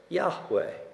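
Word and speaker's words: יהוה: am who I am in Hebrew y h w h we are the vials then and we pronounce it Yahweh scholarly opinion is that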